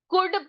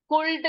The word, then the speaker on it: could: उसी प्रकार से हम इसको क्या नहीं पढ़ सकते, हम इसको हाँ कुड पढ़ेंगे, एल को साइलेंट कर देंगे, ठीक है। कुल्ड नहीं पढ़ेंगे, हम इसको कुड पढ़ेंगे, एल यहाँ पर साइलेंट है।